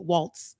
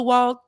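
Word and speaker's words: Walz: And Walls, that's how you pronounce it, because I need to get the white man. Walls, yeah. Walls, okay. So, because I want to say it in the way I would think that white folks would say it, Waltz. Okay, so it's Walls, so you pronounce the Z.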